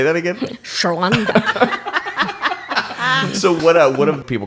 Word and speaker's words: Chonda: Shonda. So what do people call you? Everything from Chandra, Chonda.